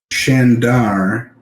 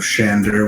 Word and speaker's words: Shandar: Shandar with an A instead of Shander with an E like Bryn Shander.